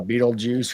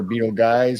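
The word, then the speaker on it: Betelgeuse: think you have a Beetlejuice or Beetle Guys, however you want to pronounce it. I always say Beetlejuice.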